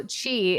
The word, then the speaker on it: qi: So chi, it's QI is how it's spelled, but you pronounce it chi.